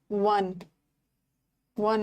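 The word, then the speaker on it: one: Sense में ना, एन, बट यहाँ पे वन, वो आ रहा है, वन में वो आ रहा है ना, डब्ल्यू आ रहा है, कॉन्सोनेंट है, तो अ बनेगा।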